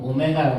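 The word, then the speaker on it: ω: 얘는 W라고 하지 않고 오메가라고 읽는 거다. 오메가. 오메가면 모여야 되는 거. 뭐 오메기 아니고 오메가. 뭐 오메기 떡 생각하면 안 돼.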